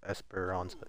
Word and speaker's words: Esperanza: Esperanza.